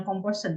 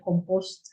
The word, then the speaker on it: composed: Composed, bacanya jangan composed ya, composed. Jadi tidak semua akhiran edit itu baca edit.